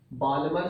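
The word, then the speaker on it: Balmer: तो इसीलिए ये बात याद रखनी है आपने, यहां पर जो सीरीज बनेगी उसे कहते हैं बामर सीरीज, बाल्मर सीरीज भी बोल देते हैं, एल साइलेंट है, बामर सीरीज।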